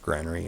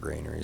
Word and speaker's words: Granary: gr Granary first and it is pronounced Granary and sometimes I call it Grainery so if I flip